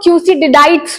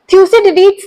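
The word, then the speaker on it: Thucydides: मैं इनको थ्यूसिडिडाइट्स पढ़ती थी और इसका प्रोनाउंसिएशन बहुत, अभी इनफैक्ट मुझे कुछ महीनों पहले पता चला है कि इसका प्रोनाउंसिएशन वैसा नहीं है जैसा मैं बोला करती थी।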